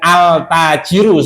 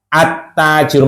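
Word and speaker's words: التاجر: Ini bacanya bukan altajiru salah. Tapi syamsiyah masuk ke huruf setelah alif lam. Attajiru makanya jelas.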